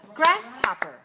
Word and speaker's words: grasshopper: of the third syllable there are three syllables and the stress is on the first syllable grasshopper okay now see my